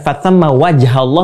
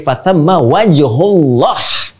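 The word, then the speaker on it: فَثَمَّ وَجْهُ اللَّهِ: Bukan fatamma wajhallah, tapi fatamma wajhullah.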